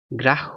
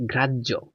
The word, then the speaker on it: গ্রাহ্য: গেছে অক্ষর তারপর দেখো এটার উচ্চারণ আমরা কি করি গ্রাহ্য না এটার উচ্চারণ হচ্ছে গ্রাহ্য গ্রাহ্য তাহলে দেখো তো গর সাথে